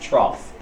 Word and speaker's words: trough: you usually don't really see is the trough pronounced trough so crest on the top troughs on the